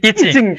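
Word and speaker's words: Yijing: এরকম আমরা পড়েছি দেখেন ইজিং তারপর এই যে এখানে আছে বানানটা ওয়াই আই জে আই তারপর হচ্ছে এনজি কিন্তু এটা হচ্ছে ইচিং হ্যাঁ এরপর দেখেন যে সিরিয়ার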